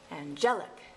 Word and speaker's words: angelic: and gel lick now if it's just angel angel but angelic again you're gonna do this naturally when you speak otherwise if you always put the emphasis on the wrong syllable people will laugh at